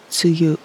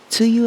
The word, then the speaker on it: tsuyu: It's called rainy season in English and suyu or bayou in Japanese. Tuyu and bayou are different pronunciations for the same two characters, plum rain.